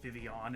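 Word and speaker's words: Vivillon: villon mhm I Vilan honestly I changed how I pronounced it during the course of this let's play because I heard woo say vivon and I like that wait a second is it is it actually like vivon or like vivin or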